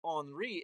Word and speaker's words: Henri: But his his uncle, Enri, is spelled Henry with an I, and he would have been pronounced Henri.